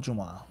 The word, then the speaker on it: جمعة: There's more than one way of pronouncing the word Jumu'ah. One way is with the dhamma on the meme.